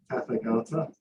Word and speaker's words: Tathagata: So if you're on the so our first speaker is you have to excuse me for poor pronunciation, but Tathagata.